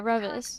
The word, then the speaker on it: Reavis: As I say their name wrong, is it Reavis? Did I say it right? Yeah, Reavis. Reavis.